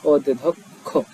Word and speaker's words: অধ্যক্ষ: অধ্যক্ষ, এটি হচ্ছে অধ্যক্ষ, এটি সুন্দর করে খুলে খুলে যদি পড়া হয় তাহলে হচ্ছে অধ্যক্ষ।